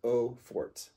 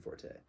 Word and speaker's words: Eau Forte: And you can just pronounce it Eau Forte. Okay. And you can take that to the bank. You do not pronounce it Forte. It's not Forte. Please stop saying Forte.